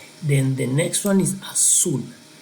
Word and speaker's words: azul: Then the next one is azul. Azul, remember the Z or the Z in Spanish is going to be pronounced like almost like S sound in English.